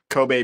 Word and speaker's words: Kobe: Kobe beef.